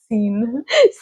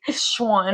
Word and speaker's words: Sean: exactly how I pronounce I would pronounce it scen like C with an N scen why would you do that like Shan it's an Irish thing isn't it I think